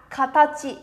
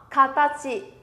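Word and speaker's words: 形: Sẽ đọc là katachi, đơn giản đúng không? Minasan sẽ nó katachi, katachi nhé.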